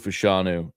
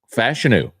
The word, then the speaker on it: Fashanu: uh Drew thinks the Saints should pick Olu fashanu at 14 and I gotta get a pronunciation because I'm starting to hear some people